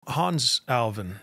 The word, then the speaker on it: Hannes Alfvén: Hans Alvin, that's how you pronounce his name.